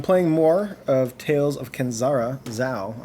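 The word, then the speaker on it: Kenzera Zau: All right, so I'm playing more of Tales of Kenzara Zhao. I've been mispronouncing that whole name. But that is how it's properly pronounced and said.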